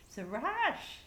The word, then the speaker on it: Sirach: I looked it up, how to pronounce it. The little lady with the lips said, Sirach, Sirach, Sirach.